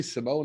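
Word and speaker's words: S1m0ne: love that and if you haven't seen Sim Simone it's spelled Sim One S M and then a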